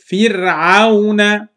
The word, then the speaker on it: فرعون: Don't make this را heavy. Make it light. Like your tongue is going down and your tongue is relaxing. So I say fir, not fir, ir, no, fir. Fir'auna.